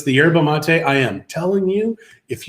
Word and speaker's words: yerba mate: So it is yerba mate. M-A-T-E. I thought it was mata, but I guess mata.